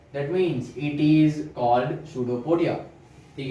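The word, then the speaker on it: pseudopodia: तो इसको प्रोनाउंसिएशन है पी साइलेंट है, ठीक है। क्या है? पी साइलेंट है और इसको बोला जाता है सूडोपोडिया।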